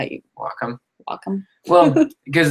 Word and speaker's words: Wacom: Wacom. Wacom. Well, because the WA is short for Washington.